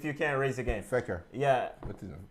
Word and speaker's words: Fekir: Fekir. Yeah. How do you pronounce it? The coach? No, man. Fekir.